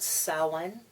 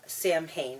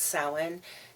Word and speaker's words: Samhain: We call it Samhain. Even though it is spelled Samhain. And this student very cavalierly said, Samhain, I think is how it was pronounced. And I corrected and said, no, it's Samhain.